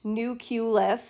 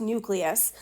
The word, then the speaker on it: nucleus: I'm going to be, it is not pronounced nucleus. As you note, there's no U here between the C and the L, okay? It's pronounced nucleus.